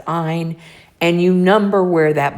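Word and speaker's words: -yne: Triple bonds require an "ine" ending, Y-N-E, pronounced "ine."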